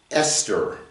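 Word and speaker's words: אסתר: It's an aleph, a samek, a tav, and a resh, and it's pronounced Esther.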